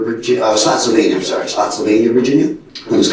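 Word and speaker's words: Spotsylvania: um call Pepper VG slot Sylvania I'm sorry slot Sylvania Virginia it was called Wilderness presidential Resort how do you spell that uh spotv s p o TS y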